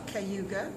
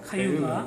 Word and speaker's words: Cayuga: Could you pronounce? Mohawk, Mohawk, Oneida, Onondaga, Onondaga, Cayuga, Cayuga, Seneca, Seneca, and Tuscarora.